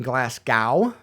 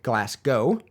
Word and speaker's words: Glasgow: When I say Glasgow, apparently it sounds like I'm saying Glasgow, rather than the more accurate Glasgow.